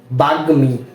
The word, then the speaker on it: বাগ্মী: শব্দ শব্দটা কি হবে বাগমি বাগমি এখানে কিন্তু ম এর উচ্চারণ হচ্ছে তাই না এখানে কেন ম এর